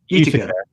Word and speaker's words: Utica: Utica.